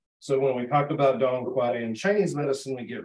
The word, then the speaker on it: Dang Gui: Dang Gui, the real, that's how it's pronounced, spelled in America. The real spelling is Dang Gui, G-U-I.